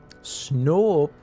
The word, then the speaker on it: Snoop: Snoop has a long O kind of like food.